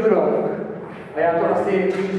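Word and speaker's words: 祝融: Vyslovuje se to žurong.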